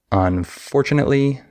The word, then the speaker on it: unfortunately: However, if I say the phrase, unfortunately, no. Now I have stress on for, unfortunately.